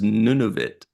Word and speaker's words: Nunavut: Yeah, it's none of it.